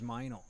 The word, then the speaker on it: Meinl: since in this moment that's awesome same is meinl okay that's how you I never knew how to pronounce that yes erm I know I got